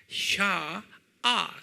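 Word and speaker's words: שָׁעָה: 이걸 유대 말로는 뭐라고 부르냐면 샤, SHA, 샤아 그래요. 샤아, AH, 샤, A를 두 개를 찍으세요. 샤아 그래요. 한번 발음해 볼까요? 샤아, 네, 샤아.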